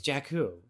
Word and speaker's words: Jakku: So I don't know how they pronounce Jakku or Jakku. Is it Jakku or Jakku? It's Jakku.